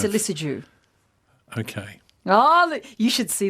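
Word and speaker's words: Lissajous: Is the S at the end silent? Lissajou.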